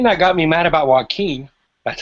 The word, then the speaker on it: Joaquin: And the thing that got me mad about Joaquin, that's how you say it, Joaquin, seemed like, and maybe this is how it